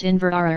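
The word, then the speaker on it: Inveraray: She invited us back to the castle, which she pronounced Inverara, and on our arrival, offered the use of her private bathroom for a shower.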